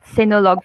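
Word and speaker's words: Sinulog: right how do you pronounce it yes it's pronounced sinolog festival festival oh it's an a catholic face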